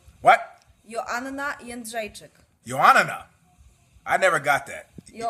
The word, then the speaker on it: Jędrzejczyk: Joanna Jędrzejczyk. What? Joanna Jędrzejczyk.